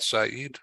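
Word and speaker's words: Saïd: I'm reading this he's a associate fellow of Saeed did I pronounce that right Saeed well that's it perfectly Saeed a business school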